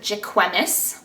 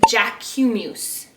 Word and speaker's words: Jacquemus: I put the word Jack and then I put EW for ew as in the middle